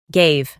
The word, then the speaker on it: gave: La A se transforma en EI para pronunciarlo correctamente. Gave.